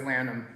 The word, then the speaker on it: Lanham: No, it's Lanham. Perfect. But when I was in high school, everyone always said Lanham, so I'd be used to it.